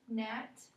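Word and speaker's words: gnat: in GN okay um Nat spell Nat for me GN a t good and on your paper I want you to cross out which letter is silent and which letter you say so what letter are we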